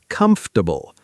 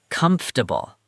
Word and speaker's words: comfortable: Comfortable. The middle sounds compressed together in connected speech.